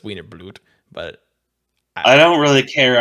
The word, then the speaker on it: Wiener Blut: pronunciation and call it Wiener Butt, but there's no L, so it's Wiener Blut.